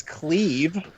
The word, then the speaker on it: Clive: Even though it's spelled like Clive, the name is Cleve Rosefield.